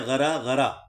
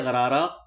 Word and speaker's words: غرغرہ: تو اصل میں لفظ تو تھا غرغرہ، اور وہ عربی اس کے صحیح تلفظ میں غرا غرا، اور اس کو فارسی والوں نے کر دیا غرارہ، اردو والوں نے اسے اپنا لیا.